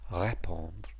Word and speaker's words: répondre: And notice, by the way, there's an acute over the E, so that first syllable, ré, is stressed, répondre.